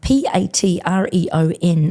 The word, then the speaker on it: Patreon: Um Patreon, P A T R E O N. When people say it quickly, uh it can sound different to actually how it's spelled. So, Patreon.